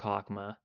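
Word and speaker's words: Chokhmah: stream itself chman well chakma is pronounced like hakma cuz here's the thing CH is just pronounced H if you want like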